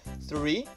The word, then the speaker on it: three: Também não falamos tree, porque tree em inglês é árvore, né? Tem o TH antes do R, é um TH desvozeado que a gente usa também com a ponta da língua para pronunciar ele. Seria three.